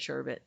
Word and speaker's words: sherbet: It has two R's. Why is the second R not pronounced?